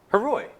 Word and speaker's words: Haroy: Heroy. Is that how you pronounced it? Haroy, yeah.